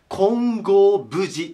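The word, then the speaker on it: 金剛峯寺: ねここねよいしょ金剛に峰と書いて金剛無事と言います金剛無事これも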